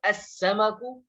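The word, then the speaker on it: السمك: तो यहाँ पर अस्समकु, देखिए यहाँ पर भी जो है सीन को जो है हम मुशद्दद करके पढ़ रहे हैं, तशदीद लगा करके पढ़ रहे हैं और लाम को साइलेंट कर रहे हैं।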